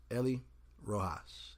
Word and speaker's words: Ellie Rojas: So let me go ahead and welcome on my guest, Ellie Rojas.